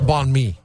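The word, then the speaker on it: bánh mì: You just don't pronounce the end. It's just banh mi sandwich, I believe is how you say it. But I'm not. Well, it sounds like you're saying balmy.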